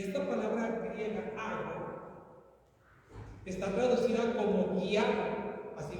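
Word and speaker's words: ἄγω: Aquí mismo va a hacer para proyectar, miren, ago, acento en la A.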